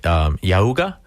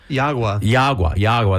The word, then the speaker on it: Yagua: Tell me a little bit, Drew, about and tell me if I'm pronouncing this right, Yauga? Yagua, that's right, cigar, and what it means in your cigar making journey.